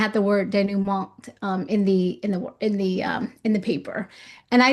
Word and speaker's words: denouement: I'm just laughing because it's, as anyone who's studied any French would say, since that word comes from French, French pronunciation leaves out a good portion of the letters always.